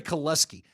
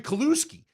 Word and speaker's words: Kaluski: By American pronunciation, it was Terry Koleski. But every guy that I knew that knew him, who were all Canadian, called him Terry Kaluski.